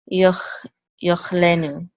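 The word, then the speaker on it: יאכלנו: So would this be pronounced? I would say yochlenu.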